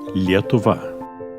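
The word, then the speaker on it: Lietuva: pronounce the word Lithuania Lithuania in Lithuanian is yet ovah now we're all going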